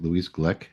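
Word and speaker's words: Glück: I got from that that uh is it Louise Glick is that how you say her name yeah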